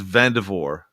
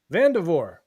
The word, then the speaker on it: Vandervoort: It's Vandervoort. Vandervoort. Yes. Yes. The T, the R is silent and the T is silent. The first R is silent, and the final T is silent. Vandervoort.